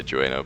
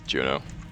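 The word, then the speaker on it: Jeuno: not an s region I always say joino but it's Juno I thought for the longest time that it uh it was spelled UE instead of EU as well so that's why I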